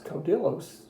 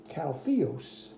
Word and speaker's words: caudillos: It looks like it's Caudillos to us, but as the book told you, in Spanish it's pronounced Caltheos.